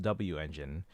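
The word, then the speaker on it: W-Engine: So, 100% of you say it's pronounced W engine because I've heard a few people say wen.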